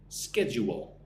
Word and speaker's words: schedule: Well, schedule, right? Put the word U in the middle. Schedule. Ske. Schedu. Wo. Schedule.